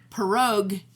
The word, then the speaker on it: pierog: i promise that see the polish version of it is spelled p-i-e-r-o-g okay and the plural is with an i at the end no i.e so it's like perrogue if you want one and it's pierogi for more than one in polish what